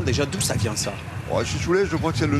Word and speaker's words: Chichoulet: On prononce chichoulet ou chichoulette? Chichoulet plutôt, les vins de droit disent chichoulet, ne prononce pas le T enfin. Ici dans l'Hérault, puisque à 100 mètres, 150 mètres de l'autre côté de l'Aude, on prononcerait peut-être un peu plus chichoulette, on prononcerait un peu plus le T.